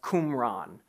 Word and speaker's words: Qumran: these things were found so that's kumran kumran is spelled with a Q okay so kumran is